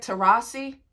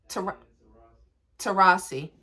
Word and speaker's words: Taurasi: digging and how you say her name babe to Rossi to Rossi what's her first name Diana thank you so